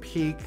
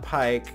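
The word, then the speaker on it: Pieck: pipe we've been saying peek's name wrong we're aware now that it's peak not pike so from now on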